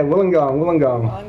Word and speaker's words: Wollongong: Yeah, Wollongong.